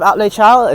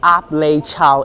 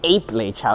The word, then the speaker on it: Ap Lei Chau: That's Ap Lei Chau Bridge Road, which can connect to Ap Lei Chau Estate. According to City Bus, it is pronounced as Ape Lei Chau Estate, which is completely stupid and wrong.